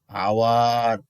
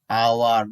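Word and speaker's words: hour: ওকে, এরকম শব্দ কিছু লিখবা তোমরা আজকে, অনেস্ট, আওয়ার, অনারেবল। ওকে, দেখো তাহলে এ অ আ হলে কি বসে, এন বসে। যেমন আমি তোমাদের দেখাচ্ছি অ্যান আওয়ার, দেখো এইস এর উচ্চারণ এখানে সাইলেন্ট আছে, আওয়ার, অনেস্ট, এম এ,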